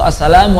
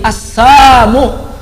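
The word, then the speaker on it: السلام: Salam yang benar dalam Islam assalamualaikum atau assalamu alayka assalam. Yahudi melesetin salam dengan bacaan assalamu alayka ya Muhammad. Huruf lamnya dihapus, tidak diucapkan, sehingga maknanya berubah.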